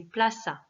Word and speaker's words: plaza: Attention à la prononciation, contrairement à ce que beaucoup d'élèves me disent, il n'y a pas de D, hein, donc c'est plaza, la place.